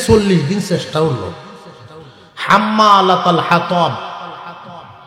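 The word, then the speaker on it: حَمَّالَةَ الْحَطَبِ: এই যে 40 দিন চেষ্টা হলো, হাম্মালাতাল হাতাব, এইটার উচ্চারণ করে হাম্মালাতাল ফাতাল কয়।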